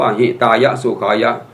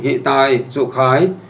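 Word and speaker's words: หิตายะ สุขายะ: ว่า หิตายะ สุ ขายะ ลูก น้อง เขียน เป็น บาลี ให้ บาลี ไม่ มี สระ อะ ท่าน ก็ ไป อ่าน ว่า ปฏิคัน หตุ อัมหากัง ทีค ตัง หิตาย สุ ขาย ตาย ก็ ก็ ตาย จริง ๆ ขาย ก็ ขาย จริง ๆ แล้วย มี อยู่ ครั้ง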